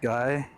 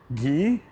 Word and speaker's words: Guy: One of the cool kids picked guy and was immediately disappointed when the teacher pronounced it as Gee or G is G.